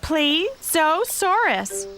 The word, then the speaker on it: Plesiosaurus: Hi, I'm Plesiosaurus. You say that Plesiosaurus.